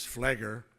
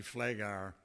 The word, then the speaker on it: Pfleghaar: people understand my name I was introduced as fleiger and that's close to my name it's actually Flay gar I think I spent